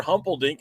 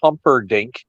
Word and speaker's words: Humperdink: You butchered that one. Big Daddy Dink is Sir Oliver Humperdink. Okay. Not Humpelstein or whatever you call him.